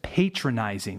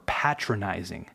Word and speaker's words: patronizing: Then there's patronizing or patronizing. This one can be pronounced both ways.